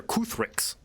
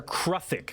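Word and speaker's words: kruthik: These are Kuthrix. Kuthrix. Or rather, Kruthic. Sorry, that's how it's pronounced.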